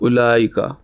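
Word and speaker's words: أولئك: इसके अंदर वाव है तो लेकिन वाव प्रोनाउंस नहीं होता तो इसलिए अलिफ पे पेश के बाद उला लाम फौरन पढ़ा जाएगा उलाई का तो यही इसके अंदर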